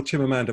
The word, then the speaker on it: Chimamanda: if you just google chimamanda which is like amanda only with a c-h-i-m on the front right okay and if